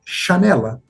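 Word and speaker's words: xanela: Os eh galegos vão pronunciar chanela, mas etimologicamente janela é com J, né?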